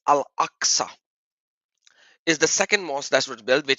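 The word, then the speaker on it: Al-Aqsa: it is axa to to really pronounce it in the Arabic properly it's al axa is the second mosque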